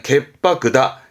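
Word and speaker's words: 潔白: 발음은 갯바크입니다. 츠 다음 때문에 바로 바뀝니다. 결백하다 할 때는 갯바크다.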